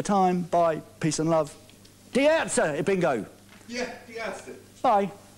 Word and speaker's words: Die Ärzte: Die Ärzte.